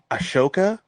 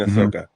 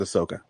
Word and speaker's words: Ahsoka: doing good thanks um so I'm watching Ashoka you mean Ahsoka is that how you pronounce it yeah it's Ahsoka they say it a